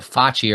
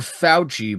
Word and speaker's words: Facci: Ooh, they call it Facci around here. Life is good. You were telling me before we did this podcast today with our guest that there's been other mispronunciations of your name. There was never Fauci before COVID happened.